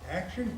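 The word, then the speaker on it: Aktion: schools and we have one called action club spelled with a cave a-k-t-i-o-n action club is people that are mentally challenged we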